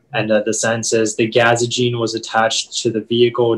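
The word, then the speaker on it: gazogene: the information yeah uh the only pronunciation is gaza gene it's a noun and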